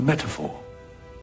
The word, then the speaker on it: metaphor: spelled m-e-t-a-p-h-o-r and again I'm going to emphasize the O here so in British English it would be metaphor the t is quite strong uh strongly pronounced in my opinion as well so it's meta and then four a metaphor whereas in American English it would be more like metaphor so the t is very soft it's almost like a